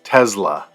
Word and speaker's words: Tesla: to note is that Elon Musk who is from South Africa actually pronounces it as Tesla but I say Tesla everyone that I I know says Tesla so that's an interesting